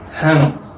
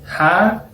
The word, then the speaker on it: rã: La virgulilla solo va a indicar que la A es nasalizada. Rã. No es ja, no es rã, es rã.